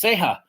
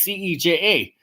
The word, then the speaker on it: Ceja: So anyway, so I have a hyphenated last name, and it's pronounced Ceja, but it's C-E-J-A. But everybody always says Ceja.